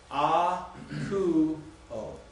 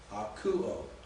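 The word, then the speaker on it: ἀκούω: A-ku-o. A-ku-o. 3 syllables.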